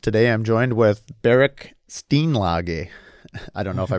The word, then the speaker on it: Steenlage: You're saying our last name wrong." So it turns out there's a small pocket that had the same last name in the Netherlands. And we looked them up, and they say it's Steenlage.